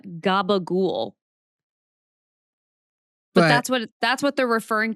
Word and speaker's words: gabagool: From the Neapolitan dialect, because a lot of C's in the Neapolitan dialect are pronounced as cheese. And then like mozzarella, you will drop the final vowel sound and you might just call it mozzarella.